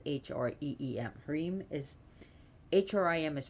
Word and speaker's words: Hrim: it's pronounced h-r-e-e-mareem is hrim is pronounced cream as is as if it was spelled h-r-e-e-m so a m m